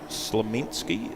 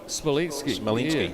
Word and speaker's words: Smolinski: John Slemensky, is that how you pronounce his name? Smolinski, yeah.